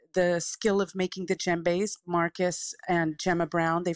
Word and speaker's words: djembe: them and it's pronounced JBE right I always get it wrong I see it and it's a silent D or it's JBE yes it's a silent D yeah it's pronounced JBE correct and you've got